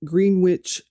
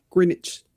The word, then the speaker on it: Greenwich: And Juliet Marion Hulme was born on October 28th, 1938 in Greenwich. I'm saying that wrong. It's not coming out. Greenwich.